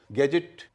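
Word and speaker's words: gadget: गैजेट, जी ए डी, जी ई टी, पहले ग हो रहा है, अगले का ज हो रहा है।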